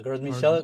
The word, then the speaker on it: Gros Michel: You mentioned let me make sure I'm pronouncing it correctly. Is it the Gros Michel? Yeah, Gros Michel, Big Mike.